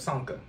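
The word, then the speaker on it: Csonka: his last name, but Sanka. When the Dolphins went undefeated. Let's go say the C is on silent. I'm going to mess it up. Sanka.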